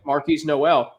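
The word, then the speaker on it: Marquis Nowell: against Michigan State uh Marquise no how I pronounce his name Marcus Marquis yeah Marquis Noel I mean on a bad ankle 19 assists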